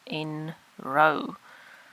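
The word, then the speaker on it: nrow: population set and this function is in row that's how you pronounce that and so that is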